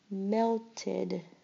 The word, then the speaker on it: melted: Melted. Melted. Id. You hear the d, id, d at the end.